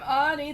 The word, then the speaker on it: Audie: I'm Audie. The O is silent.